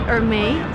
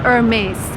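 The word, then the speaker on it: Hermès: again it's French and I would suppose you pronounce it army but we're gonna try and ask them I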